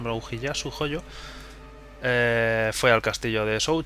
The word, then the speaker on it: Ujiyasu Hojo: Sin saber qué estaba pasando por la cabeza de Kotaro Fuma, Hieyasu Hojo, voy a intentar decirlo bien, Ujiyasu, aunque la pronunciación sea de otra forma, pero Ujiyasu Hojo, fue al castillo de Shou Chun y conversación.